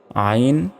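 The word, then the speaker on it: ع: বলা হয় তারপর দেখুন আইন চার সেকেন্ড টান হবে আইন গলার ভেতর থেকে চাপ দিয়ে উচ্চারণ করবেন শুধু আইন বললে কিন্তু হবে না বাংলার যে সরিয়া রয়েছে ওই প্রথমে আইন এভাবে বললে হবে না গলায় চাপ দিতে হবে প্রথমে আইন আইন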